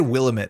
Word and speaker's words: Willamette: They say it Willamette in the game.